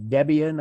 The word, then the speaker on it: Debian: ubuntu rather 20.4 cali linux uh 2021.1 uh debian i think it's pronounced 10.7 and fedora workstation 33-1.2 anyone with